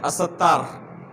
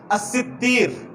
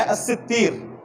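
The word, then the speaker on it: الستير: درمیان بہت معروف ہے جو کہ غلط نطق ہے، غلط تلفظ ہے، الستار. الستار اس تلفظ کے ساتھ اللہ کا کوئی نام نہیں ہے. میں ایک مثال دے رہا ہوں. الستار اس تلفظ کے ساتھ اللہ کا کوئی نام نہیں ہے. صحیح تلفظ کیا ہے؟ الستیر.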